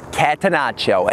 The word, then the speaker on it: catenaccio: The pronunciation is catenaccio, and the catenaccio soccer term is an Italian word for door bolt.